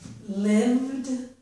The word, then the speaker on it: lived: Here's lived. Although I have written a vowel letter, the letter E, in between the letters V and D, we don't pronounce that E.